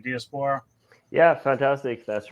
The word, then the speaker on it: Diaspora: Did I pronounce that right, Diaspora?